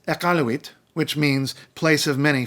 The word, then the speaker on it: Iqaluit: we this is wrong and it's definitely not pronounced eskimo the capital and largest city of Nunavut is Iqaluit okay it's Iqaluit which means place of many fish in an